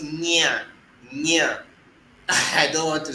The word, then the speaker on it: Nyanya: But we have a place called Nyanya in the FCT, close to Abuja. So Nyanya is written Nyaa, Nyanya. It is Nya and Nya. So you can see the symbol is different from Nga.